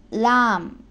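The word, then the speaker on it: لام: லாம் என்ற எழுத்தும் தமிழில் சொல்லக்கூடிய லா பாம்பு லானா என்று சொல்லக்கூடிய அந்த லாவுடைய உச்சரிப்பை இந்த லாம் பெறும். லா லாம். சிங்களத்தில் உள்ள லயன்ன என்று சொல்லக்கூடிய லா அதனுடைய உச்சரிப்பும் இந்த லாமுடைய உச்சரிப்பும் சமனாகும்.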